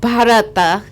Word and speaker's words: bharata: a Sanskrit word meaning dance and the word bharata three syllables ba ra and PA there are two